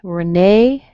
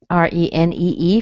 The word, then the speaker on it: Renee: Renee is a French name. R-E-N-E-E for women. You don't hear the first E, you hear a schwa.